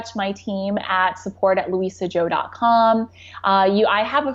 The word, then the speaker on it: Lusia Zhou: Joe calm slash challenge I do want to caveat my name this not it's not spell the way it sounds it's spelled comm slash challenge awesome thank